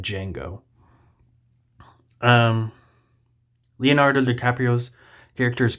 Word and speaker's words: Django: We even had a scene earlier in the movie where he says that the D is silent and this one random